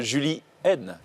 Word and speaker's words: Julienne: Est-ce qu'on a un medley de Julie N? La bonne prononciation, c'est Julienne en vérité.